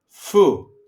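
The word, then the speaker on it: φι: Fu basically in the alphabet f and the pronunciation is f okay like fia as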